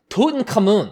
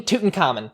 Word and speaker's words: Tutankhamun: told that the proper the closest pronunciation we have is tutankhamun and not king tutankhamen so i'm going to